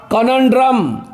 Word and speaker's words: conundrum: चलिए आज का मेरा पांचवा वर्ड रहा कनंड्रम, कनंड्रम, CONUNDRUM। देखिए एन के ऊपर जोड़ है, एन के ऊपर लकीर है, इसका मतलब एन पे जोड़ देना होगा।